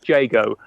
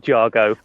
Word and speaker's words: Jago: It's Jago, like Sago or Say Go, but not Jargo or no Jago, idea.